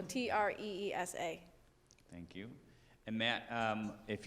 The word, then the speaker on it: treesa: It's spelled TIKTOK, and my username is mother.treesa, like trees. So TREESA.